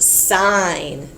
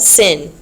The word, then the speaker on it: sine: solve our problems so um this one is pronounced sign sign I know that we abbreviate s n but we do not call it sin we never call it sin that is sign